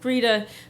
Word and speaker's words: Greta: And of course, he then mispronounced my mother's name, calling her Greta instead of Greta, but we were splitting hairs at this point.